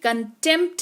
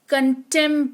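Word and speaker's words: contempt: P silent रहेगा गा पी और टी अगर साथ में आ रहे हैं किसी शब्द में तो पी साइलेंट होगा। जैसे कि कंटेंप्ट नहीं पढ़ते हैं। कंटेंट पढ़ते हैं।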